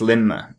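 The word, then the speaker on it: Lindmer: do I'm like oh because the D is silent well so it is spelled Lind but it's lmer is the the D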